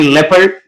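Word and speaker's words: leopard: वो ये है कि ई और ओ जब इकट्ठे आ जाए एक वर्ड में तो फिर ओ जो है ना वो साइलेंट होता है यानी लेपर्ड इसमें ओ साइलेंट जेप इसमें भी ओ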